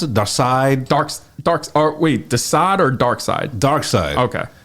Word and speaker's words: Darkseid: Let's talk about my man how do they pronounce it? Darkseid? Desaad or Darkseid? Darkseid.